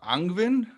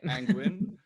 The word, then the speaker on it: Angwin: Welcome to another episode of TOA On Air, and today I'm joined by Julia Angwin. Do I pronounce this name correctly? Yes, that's right. It sounds like penguin, penguin. Angwin, who's dialing in from